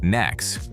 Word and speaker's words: NACS: The name is pronounced Nax, short for North American Charging Standard.